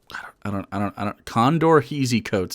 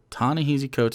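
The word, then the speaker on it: Ta-Nehisi Coates: heard of this person oh tony i said it wrong tony heezy coach is a writer he's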